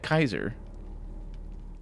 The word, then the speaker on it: Caesar: And I thought it was an interesting detail because obviously him being a follower of Caesar, he would say Kaiser in his vain attempt at pronouncing it properly in Latin.